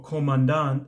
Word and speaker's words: commandant: In the case of Wangrin, he ends up serving a specific commandant, or commandant, I guess would be the French pronunciation, that is very negligent.